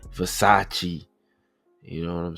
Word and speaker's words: Versace: I don't even know how to pronounce these uh past those Vasacasis or you know supposed to be Versace.